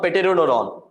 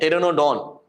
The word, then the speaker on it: Pteranodon: Not Pteranodon. P is silent, Pteranodon.